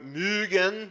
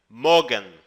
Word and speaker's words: mögen: Quando você pronuncia o verbo mögen, você meio que faz um biquinho, como se fosse uma vaca mugindo, tá? Tá? Soa meio esquisito esse negócio de biquinho, mas é a melhor forma de explicar. Mögen, tá? Se não tivesse o trema, você pronunciaria Morgen, tá? Morgen, não Mögen. Mögen, sim, Morgen.